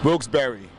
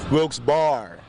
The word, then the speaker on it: Wilkes-Barre: hyphen sounds simple right Wilkes bar do you ever hear anybody say a difference all the time what do they say wilkesbury but the correct way is Wilkes bar bar with two r's Wilkes-Barre Wilkes-Barre Wilkes-Barre wilkesbury